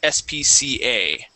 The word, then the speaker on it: SPCA: And this you would pronounce SPCA. Okay, it's not actually a word.